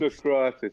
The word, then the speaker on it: Socrates: Was it Socrates or something? It is pronounced. Socrates.